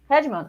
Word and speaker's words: hegemon: one big leader one hegemon what's the correct pronunciation of this word hemon yes hemon oh great you got it uh you got